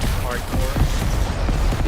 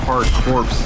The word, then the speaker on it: Hard Corps: Corps on the Genesis hardcore yeah doesn't that sound better why are you say hardcore because that sounds actually spelled yeah cuz you don't pronounce the P why is there a